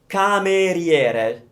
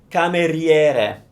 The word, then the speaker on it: cameriere: The word for waiter, it's spelled with only one M. It's cameriere. Stop typing, please. Cameriere. So, that's easy. Riere. So it's that rie that gets you, I think. Cameriere.